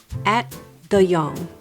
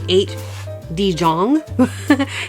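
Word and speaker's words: Ate de Jong: Directed by, I'm going to try this, At de Jong. It's a Dutch name. Okay. It is not how it's spelled, because I would say 8 de Jong, but I had to look it up.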